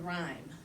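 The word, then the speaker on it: rime: Um and by way of introduction for this first poem um there's uh you'll hear the word rhyme. Um but it's the one that's spelled R I M.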